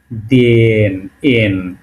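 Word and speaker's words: день: দে এটা আমাদের দে ছিল ইয়ে তাই না দেন এল দে এন আরেকটা নাক আছে তাই না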